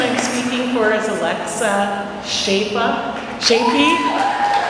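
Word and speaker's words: Czepa: So the first person I'm speaking for is Alexa Shapey. Her name is spelled C-Z-E-P-A. and I always want to call her Kazepa.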